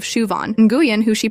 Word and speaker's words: Siobhan: There's Siobhan, who gets called Sioban instead of Shuan.